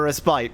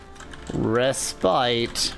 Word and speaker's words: respite: Oh, I somehow picked up the British respite pronunciation. I thought respite wasn't completely wrong, it's just not American. Yeah, I don't know respite at all. I did not know that was a Britishism.